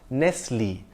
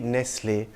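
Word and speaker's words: Nestlé: after its founder Ori Nestle and his surname has an acute Accent on the e at the end I would pronounce it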